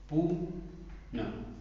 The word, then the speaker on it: पुनः: इसका उच्चारण ह की तरह होता है, होता है, ठीक है? जैसे देखो यहां पे पू न, ये पुन बन गया, जैसे मैंने